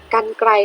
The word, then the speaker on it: กรรไกร: นะ คะ เก่ง มาก ค่ะ ลูก 8 ไก่ กรรไกร นะ คะ สะกด ว่า ก็ รอ รหัส กัน korawin ไกล